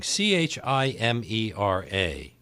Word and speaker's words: chimera: they're different other words that really are confusing CH imer a chimera yes chimera yes many people to marry